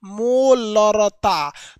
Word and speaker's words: मोलरता: तो देखिए यहां आपको एक लीटर वाला टोन थोड़ा सा सुनाई देता होगा, देखिएगा अगर इसको प्रोनाउंसिएशन करेंगे तो हल्का सा इसमें लीटर की ध्वनि है, मोलरता।